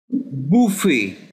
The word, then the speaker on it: buffet: In this word, T is silent. Buffet.